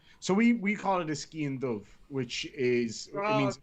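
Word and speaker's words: sgian-dubh: In Ireland we say skian dove, and in Scotland they say skian do.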